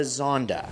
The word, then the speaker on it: Zonda: be known as the Zonda. Okay, first off, what the hell does Zonda even mean? It sounds like how Nicki Minaj would pronounce Honda.